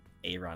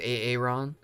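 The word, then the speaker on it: Arin: he got comfy with Aaron Hanson although weirdly pronounces it differently so yeah he doesn't pronounce it Aaron a a Ron Hey Hey Hanson yeah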